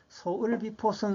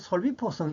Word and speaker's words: 소을비포성: 근데 이게 소을비포성 이렇게 읽으면 안 되고 이게 을자가 그 이두식으로 차자 표기를 해가 리을 발음이 나는 거거든요. 그래서 솔비포성 이렇게 읽는 게 원칙입니다.